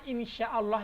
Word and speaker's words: Insyaallah: Sin ya berarti ee pengucapan Insyaallah yang benar itu adalah pakai sya bukan pakai Sin seperti contoh lagi huruf